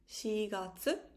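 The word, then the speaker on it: 四月: the month four so april would be shiratsu shigatsu then we have july the month seven would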